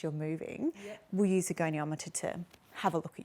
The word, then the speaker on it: goniometer: I had to actually press pronunciation on Google to say goniometer. Yes, a goniometer.